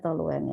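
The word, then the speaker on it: toluena: apa timal perwarna rowen tulisannya memang tahu Lena Tapi bacanya toluen nya bagus masih ada yang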